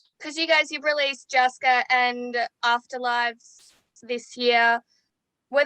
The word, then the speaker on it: Jouska: When I first saw the word Jouska, am I pronouncing that right as well? It's Jouska, but it's fine.